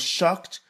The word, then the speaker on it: shocked: وهنا لا نقول shocked. ننطق ED كت. Shocked.